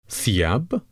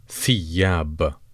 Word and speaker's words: ثياب: ثياب ثياب ثياب. Kindly note the th sound here as the th in thank you.